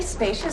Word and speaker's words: spacious: Use the long A sound. Spay, like play and say. Spay. Spacious. Use the sh sound, like shoe and fish.